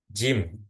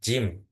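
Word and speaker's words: جيم: Jim, jim, jim. Jari-jari. Nah, itu ee huruf seperti huruf J saja.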